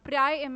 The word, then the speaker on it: pri: is here the pre prime mi rna you can pronounce it as pri because this is pronounced as pre so this prime i